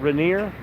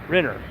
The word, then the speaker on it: Renner: Hey, you pronounce that Rainier? Renner. Okay. Renner. All right. Well, good to meet you. Just like the actor who plays Hawkeye.